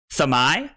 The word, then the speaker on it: Dromai: It's Thamai. It's not Thermai.